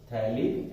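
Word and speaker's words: phthalic: Common name है, pH silent होता है, थैलिक एसिड, या फिर हम बोल देंगे बेंजीन 1,2 डाइओइक एसिड।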